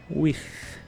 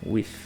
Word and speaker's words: with: alguns exemplos aí então o th no final da palavra ele vai sempre ter esse som parecendo que o ar tá saindo entre a língua e os dentes como eu falei então é with não é with e não é o if de F também não é totalmente diferente é with é claro que no